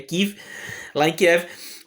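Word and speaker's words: Kyiv: E lá em Kiev, né, ou Kiev, quem quiser falar em ucraniano, a pronúncia certa da capital da Ucrânia é Kiev.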